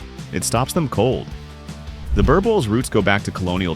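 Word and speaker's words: Boerboel: In the vast farmland estates of South Africa, one breed has stood guard like a living gate for generations, the Boer Boel. Pronounced Boer Bull, this dog was bred not to look intimidating, but to be intimidating.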